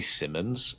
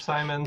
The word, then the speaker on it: Simons: Um it would be Anthony Simmons of the Portland Trailblazers. Simons.